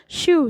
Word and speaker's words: Scheu: और जब मेरे नाम का सही उच्चारण करने की बात आती है कि मेरा नाम नहीं शिव है, तो मैं टेड शिव हूँ। शिव मीन्स मेरा प्रोनाउंसिएशन शाय वर्ड होता है।